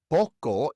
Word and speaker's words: poco: Poco ends in an O, another vowel. And so the natural stress goes on the second to last syllable. Poco.